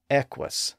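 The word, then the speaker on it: equus: sound and think about the Latin word for horse Eis spelled EQ u s in a common word like that the two 's had the W sound well in England after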